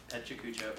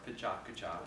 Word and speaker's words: PechaKucha: But yeah, it's pronounced Pechakucha or Pichakucha if you're Japanese, and it means chit chat in Japanese.